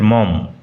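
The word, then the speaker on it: Maugham: উচ্চারণ লক্ষ্য করো, মঘাম নয়। অনেকেই ভুল করে মঘাম উচ্চারণ করে, কিন্তু উচ্চারণ হবে উইলিয়াম সমারসেট মম।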